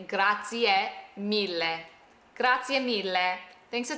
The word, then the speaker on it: grazie: Americans specifically will say grazie, or they'll say something like grazie. No, we have to pronounce the e at the end.